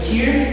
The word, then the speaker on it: tear: These being the tear dress, pronounced either tear as in cry or tear as in to rip, and the ribbon shirt.